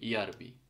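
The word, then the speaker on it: järvi: বসাই instead of জে, সো এটা কি হবে ইআরবি। সো সেম, এই যেটা ওয়াই এর মতো উচ্চারণ হবে ফিনিশে।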